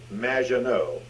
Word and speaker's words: Magdenot: It's Madge, which rhymes with badge, as in duh, and no as in more than you. Maginot.